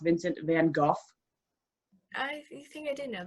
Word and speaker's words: Vincent van Gogh: And it's about the sad life of Vincent van Gogh, which, did you know his name is pronounced Vincent van Gogh?